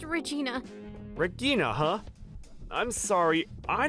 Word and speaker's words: Regina: Is it like Igna or It's just Regina.